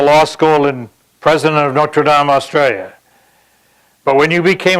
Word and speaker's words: Notre Dame: notre dame australia where by the way we pronounce it correctly uh it's not notre dame it's notre dame uh how can somebody ask for anything more